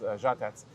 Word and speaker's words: Žatec: In Czech, the word is žatec. Žatec. Žatec, it's more mellifluous. It's a Z with a hook on it that makes it from a Z to a Ž, and it's žatec.